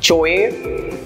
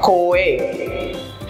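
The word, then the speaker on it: choir: एच ओ आई आर हाउ do pronounce that word चोए No, कोएर कैसे pronounce करें इसको कोएर राइट बेसिकली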